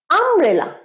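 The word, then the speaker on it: umbrella: সাথে AP note wonderful আমব্রেলা ইউ দিয়ে আছে উচ্চারণ আই এর মত ভাওয়েল উচ্চারণ তাই অ্যান আমব্রেলা আরেকবার বলো এন আমব্রেলা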